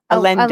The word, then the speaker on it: Allende: Allende.